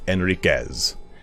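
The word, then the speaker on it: Henriques: is spelt is alfonso with an h at the beginning at the beginning like that and you don't pronounce the h it is enriquez um so with alfonso enriquez he has ownership of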